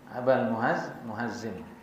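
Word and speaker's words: مهزم: Ejaannya Muhazzim bimadmumah bi fathil ha, Muhazzim. Aba al-Muhazzim.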